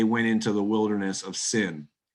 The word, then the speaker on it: Sin: It just happens to rhyme with our English word sin.